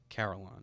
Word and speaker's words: Carolon: uh carolon is that how you say that carolon yeah carolon car yeah we pronounced it right this time we got it